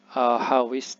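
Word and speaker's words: hāwišt: Ini disebutnya Hawist ya. Hawist artinya murid. Hawist artinya murid ya. Hawist.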